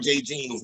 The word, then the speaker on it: Jay Jeans: And shout out Jay Jeans, man. I said it wrong in the battle. It was Jay Jeans with an S.